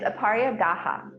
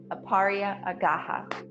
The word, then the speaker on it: Aparigraha: to pronounce it um it's aaria gaha aaria aaha and that means like